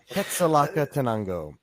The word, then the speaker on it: Quetzalcoatl: Quetzalcoatl Catanango? Close? About 50% of the way there. Okay, help me. First pass. Quetzalcoatl.